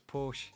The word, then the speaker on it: Porsche: Typical Brits, just it's Porsche. It's Porsche. We don't pronounce the bit at the end.